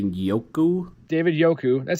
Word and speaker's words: Njoku: I don't think you pronounce the N. I would maybe say Yoku.